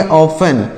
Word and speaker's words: often: OFTEN, तो इसे क्या पढ़ेंगे, ऑफन, OFTEN, ऑफन, ऑफन मतलब क्या होता है, अक्सर, ऑफन मतलब क्या होता है, अक्सर होता है। यहाँ पर टी साइलेंट है, यहाँ पर भी टी साइलेंट, यहाँ पर भी टी साइलेंट है।